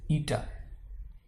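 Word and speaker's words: eta: और ये जो ईटा है, ठीक है, you pronounce it एज ईटा।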